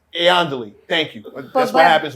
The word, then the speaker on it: Iandoli: So Did I say her last name right? Yeah, you said it wrong. Iandoli. Iandoli.